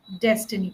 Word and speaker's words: destiny: Destiny both of them have to be narrower e sound not a.